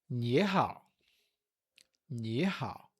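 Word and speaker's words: 你好: e a forma é ni hao. Ni hao. Nós aprendemos que esse símbolo aqui é do terceiro tom. Então, a gente tem ni, ni, olha o movimento da mão.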